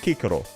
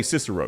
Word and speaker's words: Cicero: Like, Cicero is pronounced Kikero. But we just misunderstood it. So we say Cicero, because it just fits our language more.